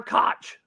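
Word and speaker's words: Koch: who's gonna be a freshman Cooper cook J.R Cook's son who's coming in is gonna play a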